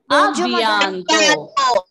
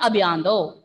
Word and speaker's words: à bientôt: À bientôt. À bientôt. It is not a single word, but when we pronounce it is à bientôt. But don't say a bientôt. No, a bientôt. Give a small pause.